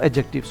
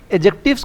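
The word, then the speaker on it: adjectives: एक बात student, एडजेक्टिव्स को एडजेक्टिव पढ़ते हैं, एडजेक्टिव नहीं पढ़ेंगे, ठीक है, यानी डी इज a silent, D is silent here, okay.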